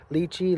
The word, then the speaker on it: lychee: Here, we got our emperor lychee litchi tree, however you guys want to say it. I've heard it pronounced both ways.